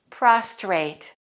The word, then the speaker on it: prostrate: confused by native speakers the only difference between them is the extra r in one of the words listen to the pronunciation prostate prostrate you can see why